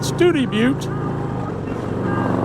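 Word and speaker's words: Study Butte: It runs from Studi Butte is how they say it, Studi Butte, Texas, to Presidio, Texas, just away from the Mexican border.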